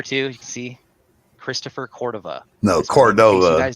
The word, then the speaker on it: Cordova: so in New Mexico it's pronounced Cordova, but out here in Colorado it's Cordova. So it just depends on where you're from, I guess.